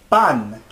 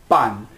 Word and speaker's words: pan: También en español nosotros decimos pan. Instead of saying bread, in Spanish we say pan. Repitan, pan. It's not pan. It looks like pan, but it's pronounced pan.